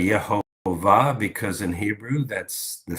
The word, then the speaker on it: Yehovah: you say it right, Yehovah. Sometimes people say, well, you said Jehovah and there's no J in Hebrew. Well, I'm speaking English. There is a J in English.